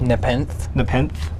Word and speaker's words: Nepenthe: Nepenthe.